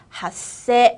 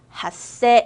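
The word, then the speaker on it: 発生: 발생이라고 하는 핫세 한 번 더 읽어볼게요. 핫세 읽어볼까요? 작은 쯔로 바뀌는 핫세입니다.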